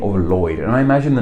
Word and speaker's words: Lloyd: Maybe we should be pronouncing this name Lloyd, but we don't, it's pronounced Lloyd. So while this name does start with two L's, we only really pronounce it as if it has one L.